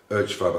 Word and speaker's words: Urchfab: And the last one is one called Urchfab, and that's spelled U-R-C-H-F-A-B, one word. Urchfab. I think the guy's called Matt Urch is his name, U-R-C-H. So it's Urchfab.